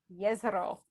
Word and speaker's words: Jezero: If you listen to the podcast, and our faithful listeners have provided us with authoritative pronunciation. Yeah. Jezero? Jezero.